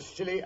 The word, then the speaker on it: Scilly: Well, tonight I thought I'd relate how Holmes and I spent New Year's Eve off the Silly Isles.